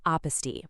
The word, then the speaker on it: apostille: It's pronounced apostille.